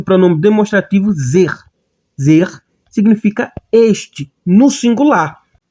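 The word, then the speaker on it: זה: Temos aqui o pronome demonstrativo zer. Zer significa este no singular. Temos aqui o sein, que é o nosso Z, temos o segol, que é o nosso E, e temos o re, que é o nosso H.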